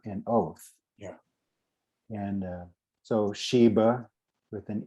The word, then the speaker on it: sheba: oath yeah and so sheba with an e sometimes people pronounce with a v like victor instead of a b so sheba or shiva and then you then